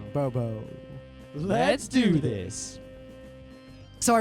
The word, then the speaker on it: Abobo: bobao it's Bob b no you sp it wrong it's Bobo Bobo I 100% a correct the important part is there's seven bows yeah I am 100% confident that that is the correct way to say it so uh abobo is